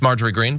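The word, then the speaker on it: Marjorie Greene: to be by the way we have that name wrong in there um it's marger green by the way um but anyway uh so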